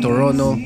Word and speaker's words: Toronto: Algo peculiar de aquí es que en inglés los locales no pronuncian la segunda T. Toronto sería Toronto, algo así.